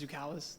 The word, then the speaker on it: Zukalis: wrong on the roster it's pronounced zoukalis the people all right thank you state your whole name for the record zukalis okay thank you all